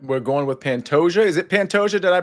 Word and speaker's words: Pantoja: knockout miss spia all right we're going with Pantoja is it panta did I pronounce that right yeah that's right like a okay Pantoja and Reyes okay well we'll get back to